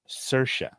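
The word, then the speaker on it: Saoirse: get used to it it's Irish it's cersa no not gonna do it it's h if anybody has never seen cersa it is um it is spelled not like you think um but I'm so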